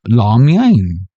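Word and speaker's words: 拉面: Shandong noodle is Shandong la mian. La mian. You know, like lo mein or whatever but with an A.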